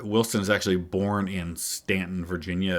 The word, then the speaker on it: Staunton: is actually born in Stanton, Virginia. It's spelled Staunton, so it looks like Staunton, but I'm fairly certain it's pronounced Stanton.